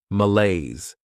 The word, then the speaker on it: malaise: This word has 2 syllables, and the stress is on that second syllable, malaise.